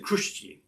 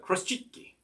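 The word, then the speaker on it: chruściki: I don't even remember what I said, but I think I said Kruszki, but Kruschicky. Okay.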